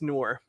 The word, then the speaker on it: Noor: But my favorite name is Noor. Double O-R? It's spelled differently depending on the region, but it can be N-O-U-R or N-O-R-E.